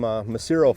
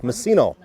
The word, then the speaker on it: Messino: We've been calling him Macero for 6 innings. We're going to go with Messino. The correct pronunciation, Messino.